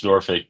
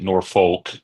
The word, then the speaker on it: Norfolk: who lives here in Nori knows that it's Nori but if most people pronounce it Norfolk and who don't live in the city so